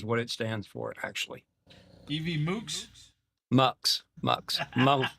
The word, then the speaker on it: EvMux: So, let's talk about EV mucks. And that's how it's pronounced. EVM mucks. It's actually stands for event multiplexer is what it stands for actually. EV muks. Muk. Muk. Muk as in multiplexer.